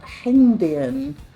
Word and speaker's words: Hengdian: It's pronounced pretty much how it's spelled. Hengdian.